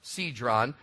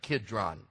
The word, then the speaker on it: Kidron: his disciples over the brook sedron sometimes pronounced Kidron where was a garden